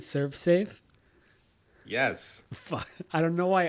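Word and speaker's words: ServSafe: house was so clean stop saying save surf I don't I don't get why you think that that's that's the pronunciation of it what is it Serve Safe yes I don't know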